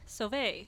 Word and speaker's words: Sauve: how do you say your last name again survey survey I'm sitting here with Ali sovay Ollie can you start by introducing yourself yes